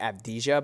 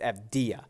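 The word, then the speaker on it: Avdija: corrected so many times on stream i keep pronouncing it abdijah but it's fda so denny abdia in a smaller sample size looks really good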